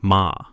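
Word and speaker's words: 間: In Japan, there is a concept called ma, pronounced ma.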